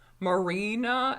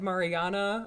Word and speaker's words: Marina: review video down below and you'll hear me mispronounce marina as Mariana a bunch of times and marina loves the